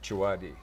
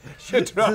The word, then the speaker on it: Chidrawi: And we are speaking to my friend Aunt Chidrawi. Chidrawi. Cut. You're going to have to do that. Chidrawi.